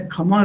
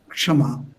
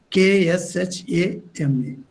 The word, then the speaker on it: Kshama: Sarada Devi as a Kama Rupini. This Kama in Bengali is pronounced in Sanskrit as Kshama. K in English we write K-S-H-A-M-A, Kshama.